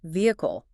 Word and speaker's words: vehicle: The challenge here is the silent h and the reduced vowels. While you might try to pronounce all four syllables, the standard British pronunciation is reduced to three. V a key all. The silent h is key here. Do not aspirate it.